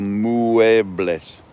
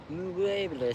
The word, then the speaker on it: muebles: Pronounce every letter. So muebles. Muebles.